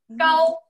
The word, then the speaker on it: 糕: 一个字，这个字读作糕，糕，一下糕，哎，糕，重阳糕的糕。